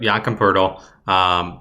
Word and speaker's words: Jakob Poeltl: Yes, you pronounce it. Yamka Pirtle? Yep, Jakob Poeltl.